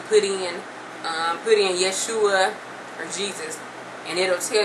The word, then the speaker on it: Yeshua: where you can put in um put in Yeshua or Jesus and it'll tell you I'm sure